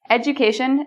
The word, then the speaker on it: education: Education, the DU sounds like a J.